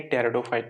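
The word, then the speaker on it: Pteridophyta: इसको क्या करते हैं बोलते हैं पॉटर लिखेंगे यहां पर साइलेंट है तो इसको बोलेंगे टायरों फाइट ओके तो इसमें क्या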